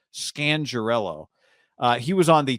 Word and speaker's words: Scangarello: uh rich scan scandarello i found out we've been saying it wrong this whole time that's gangrel scangirello uh he was on